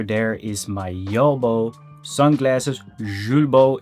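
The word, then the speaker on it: Julbo: Zulbo is how the French pronounce it if I'm correct.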